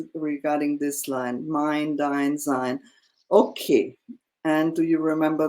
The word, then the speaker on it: sein: Is it zine? Um, No, no. If you Sein, see sein, an E and an I, it's always pronounced I.